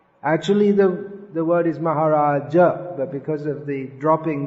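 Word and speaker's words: महाराज: brahmani what others tendency in english is to drop the sound h but it should be pronounced uh which maharaja is giving class tomorrow maharaja maharaja maharaja how do you write that in english there isn't any it's anyway it's not maharaj in in english you can do any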